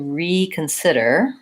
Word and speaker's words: reconsider: first syllable for example I need to reconsider my options reconsider the main stress there is on the sit of sitter but because I'm using